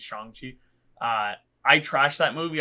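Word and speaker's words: Shang-Chi: that's how you say it's not shangshi it's changji uh I trashed that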